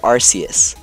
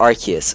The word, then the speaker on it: Arceus: the god Pokemon itself we have arus or archus however you want to pronounce it both ways are Cannon so that is archus